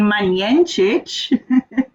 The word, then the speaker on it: Majenjic: Okay, because seeing that you can't pronounce my name correctly, my name is Christine Majenjic.